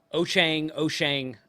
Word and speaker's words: Wouxun: That's the proper way to pronounce it, or it's semi-close. It's spelled Wouxun. Some people call it Wouxun. You've heard it referred to maybe as Wouxun. Wouxun is the correct Chinese way to pronounce it. So I'm told. I don't speak Chinese, but that's what I've been told.